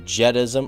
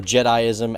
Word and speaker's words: Jediism: minute Leroy you're pronouncing jedism or jediism as jedism it's pronounced jedi-ism now I actually called